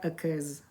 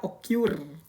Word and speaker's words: occurs: Karena ada s-nya dibaca occurs. Jadi tidak dibaca occur ya. Jadi berhentilah kalian baca occur, itu bacanya ke.